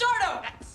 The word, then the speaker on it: Sardo: Deciding that this thing is no good, Rush heads back to Sardo's shop to return everything. Mr. Sardo, Sardo, no mister accent on the dough.